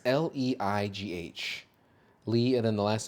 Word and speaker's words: Leigh: I don't know if it's pronounced Lee. It's Leigh.